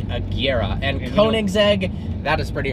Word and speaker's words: Agera: koenigsegg agera r kelly it's like a tiara are we just got roasted cuz we call it the jera and everybody was complaining about that so sorry guys there you go so even automotive enthusiasts a jira r is not right it is the Kiera and Koenigsegg that is